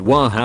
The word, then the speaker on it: water: To pronounce it waha would be very South London. You'll find it pronounced water in Birmingham and water in Liverpool.